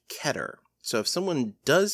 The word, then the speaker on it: Keter: But the actual word is Hebrew, and it's supposed to be pronounced Keter. So if someone does say Keter, they are not wrong,